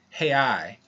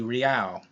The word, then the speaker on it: real: BRL is Brazilian real, which is how it's pronounced in Portuguese, or in English it would be real, R-E-A-L.